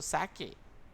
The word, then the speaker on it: sake: Here, sa is pronounced like fa, means father, and k rhymes with a way. So sake.